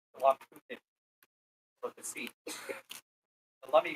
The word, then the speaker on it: Lummi: So we acknowledge that we are on the traditional, ancestral, and unceded lands of the Lummi Nation, pronounced the Lummi of the sea.